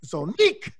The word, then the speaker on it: Zonnique: Yes, it's Zonique.